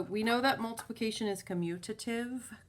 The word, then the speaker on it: commutative: know that multiplication is commutative commutative is how it's spelled there's no n in there most people say communitive it's not an n so i can multiply